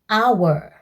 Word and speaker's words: hour: The letter H is silent, so we say hour.